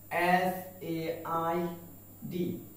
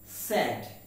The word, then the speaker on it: said: ওকে, পরবর্তী word SAID। আমরা মোটামুটি ভাবে 95% বাঙালি এটাকে উচ্চারণ করে থাকি সেইড। কি উচ্চারণ করে থাকি? সেইড, কিন্তু এর উচ্চারণটা হচ্ছে স্যাড। What is it? Sad, not said.